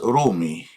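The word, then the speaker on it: ⲣⲱⲙⲓ: First word I teach you today in the letter row is romi. Ro long o may means person and roy can mean also people many persons.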